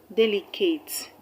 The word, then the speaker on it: delicate: The same with delicate. De is the first syllable, and which is also the third syllable from the end of the word, because the word delicate has 3 syllables.